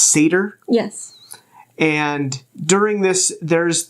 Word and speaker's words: seder: have to have this thing called is it pronounced seder yes and during this there's this whole thing